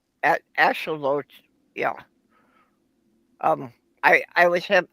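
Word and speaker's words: axolotl: Ash ashelote. Yeah. Um I I was have I was having trouble, you know, doing your pronunciation, but I can do Jenny.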